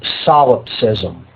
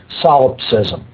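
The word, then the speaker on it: solipsism: lie and that is the ideology known as solopism. That's spelled S O L I P S I Sm. S O L I P S I S SM. Solopsism.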